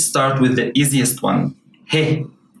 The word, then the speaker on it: ه: Let's start with the easiest one, he. This is pronounced exactly the same way as you would pronounce the letter H in English. In words like horse, house, how, hello, and other words.